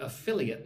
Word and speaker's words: affiliate: using my blog through affiliate marketing. So look at the word affiliate. A-fill-e-it. 4 syllables. Put the emphasis on the second syllable. 1, 2. Fill. Affiliate.